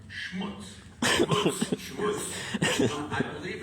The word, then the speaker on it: schmutz: I believe the proper pronunciation for schmeared gunky stuff is the Yiddish term schmutz.